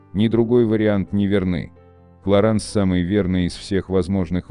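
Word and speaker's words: Clarins: Произносится Löwenbräu, в России часто неправильно произносится как Löwenbräu. 48. Кларанс. Самая распространенная версия — это Кларенс или Кларин. Но ни тот, ни другой вариант не верны. Клоранс самый верный из всех возможных вариантов.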